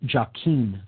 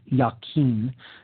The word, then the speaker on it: Jachin: The pillar marked with the letter S there on the left is called the pillar of Jachin, sometimes pronounced Yakin. That's Jachin. This is the solar masculine